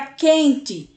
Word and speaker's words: quente: tá bom meu povo a palavra quente é a mesma coisa que u sendo que esse U nem é pronunciado ele se funde ele se junta com a letra q e a gente já pula logo para o e quente é o mesmo que